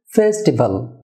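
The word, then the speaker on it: festival: হয়ে হবে popular popular ফেস্টিভাল আমরা অনেক সময় বলে থাকি এটা ফেস্টিভাল না হবে ফেস্টিভাল ফেতে স্ট্রেস হবে ফেস্টিভাল সাউন্ডস ডিয়ার ভিউয়ার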